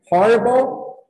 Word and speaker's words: horrible: Esse aqui também, esse H não é mudo, tá? É horrible, né?